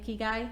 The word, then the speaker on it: ikigai: Was the word ikigai? Yes. And if that's how you say it, ikigai.